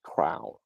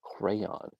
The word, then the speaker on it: crayon: And then some people, okay, when some people say crayon, they say crown, crown, crown instead of crayon. It's crayon.